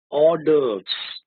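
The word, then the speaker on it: hors d'oeuvres: it pronounce how do you pronounce it orders okay orders orders what are orders orders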